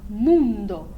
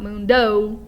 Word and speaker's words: mundo: make it like ale and then mundo moon like the moon up in the sky with a very round not moon the way you would sing it in the country sound but moon with a very round pure and then again not mundo like you're looking out the window not like it's got a w at the end of it just a pure